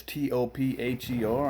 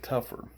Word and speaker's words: Topher: my name it is t-o-p-h-e-r i think it'll show up there once we do the video most people pronounce it topher but we pronounce it tougher the reason being when